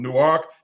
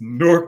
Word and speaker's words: Newark: to get it right there is a Newark Delaware and a Newark New Jersey and the people in Delaware who come from new ark they don't want you to pronounce it like my hometown and likewise we don't want you to pronounce it like their Hometown so it's newk New Jersey not Newark New Jersey yes I was born